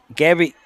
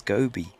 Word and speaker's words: Gobi: I think it's Gobi. Sorry, Casey. I'm sure my man told me that's how you pronounce her name.